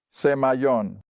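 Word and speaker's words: σημεῖον: Ahora, así es como obtengo la pronunciación de un diccionario griego, semaion.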